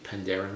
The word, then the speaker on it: Penderyn: be Welsh they did a tasting of the Pandaren whiskeys the pronunciation is pandaren Pandarus Pandarus and if your